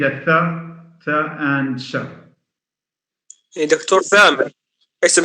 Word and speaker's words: ثامر: دكتور ثامر، اسم ثامر. اسم ثامر. في ناس بتفضلوه ثامر، في ناس بتفضلوه سامر، يعني وفي ناس بتفضلوه ثامر برضه.